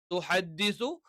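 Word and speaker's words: تُحَدِّثُ: യൗമ ഈദിൻ തുഹദ്ദിസു അഖ്ബാറഹ. തുഹദ്ദിസു, ദ എന്ന് പറയുന്നത് നാവിന്റെ തലയും മേലെ മുൻപല്ലുകളുടെ മുരടും. അവ നാവിന്റെ തല മേലെ മുൻപല്ലുകളുടെ മുരട്ടിൽ വെച്ചുകൊണ്ടാണ് ദ എന്നുള്ള, അല്ലെങ്കിൽ തുഹദ്ദിസു, ത അതേ ഉച്ചാരണമാണ്, ദ അതേ ഉച്ചാരണമാണ്.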